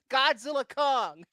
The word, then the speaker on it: Godzilla x Kong: The X is silent. Godzilla Kong. Yeah, Catherine Noon, I thought she was great in this movie as well too.